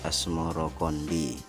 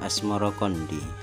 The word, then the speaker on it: Asmoroqondi: atau Maulana Ibrahim Asmoro sebutan itu mengikuti pengucapan lidah Jawa dalam melafalkan as samarkandi yang kemudian berubah menjadi asmorokondi menurut babat Cirebon Syekh